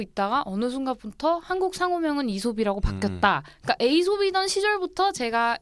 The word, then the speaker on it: 이솝: 이게 스펠링이 A이잖아요. 그러니까 맞아요. 에이솝 네. 에이솝해서 에이솝이라고 알고 있다가 어느 순간부터 한국 상호명은 이솝이라고 바뀌었다.